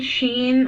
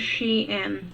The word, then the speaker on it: Shein: Like for starters, when you say Sheen and Shine, I get annoyed. Yeah, it's Shein, I think. It is Shein, guys.